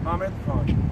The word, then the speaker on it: Hamid Khan: Have your name again and spell it. It's H-A-M-I-D, and last name is K-H-A-N. How do you say it? Hamid Khan.